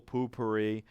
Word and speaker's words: Poopery: on YouTube if not Google poopery just like I say it is how it's spelled and it is a